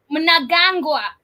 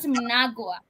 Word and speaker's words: Mnangagwa: Heard you talk about Mnangagwa. Mnangagwa's you always, you know that is the name of a certain vegetable right here. Called Mnangagwa? Mnangagwa, not Mnangagwa.